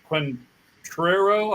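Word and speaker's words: Quatraro: of the Detroit Tigers you got Matt uh quentero I believe is how you say his name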